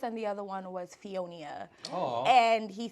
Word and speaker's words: Fionia: Like it's not Fiona, it's Right. Fionia.